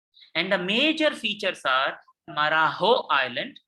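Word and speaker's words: Marajó: And the major features are Marajo Island, J is pronounced as H, Marajo Bay, and São Marcos Bay.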